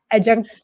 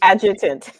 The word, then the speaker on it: adjutant: North Carolina, as the S1 adjunct, I cannot pronounce that right, adjunct chief. Adjutant.